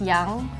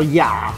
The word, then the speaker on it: 雅: Ya means elegant and noble. I mean, 优雅的雅. yeah. So, ya, not ya. Oh, yeah, you pronounce it wrong. Yeah. Like a third tone, yeah.